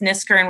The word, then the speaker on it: Kniskern: And it's Niskern with a K. My K is silent, like knife or night.